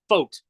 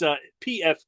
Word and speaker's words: Pfadt: But if you look at his name and how it's spelled, it just looks like something you would say it's Fought. It's Pfadt.